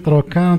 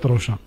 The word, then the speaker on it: trochin: de l'épaule, eh ben, il a prononcé trochiter, trochin. Ce que je vois, il est plus correct. Parce que ça répond aux règles de la langue française.